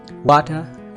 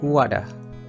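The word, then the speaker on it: water: इसमें दो किस्म की प्रोनाउंसिएशन उनके लिए, वाटर या फिर वाडा। एक तो डी की आवाज़, एक आर को रिमूव करने वाली आवाज़, वाडा या फिर वाटर।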